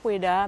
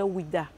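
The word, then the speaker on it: Ouidah: du mot ha disait wida nous sommes colonisés par eux on a gardé wida jusqu'à présent sinon le nom d'origine c'est peda cette foirêt elle est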